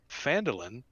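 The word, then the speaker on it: Phandalin: and the nearby human town of phantomlin pronounced fandolin prospered as well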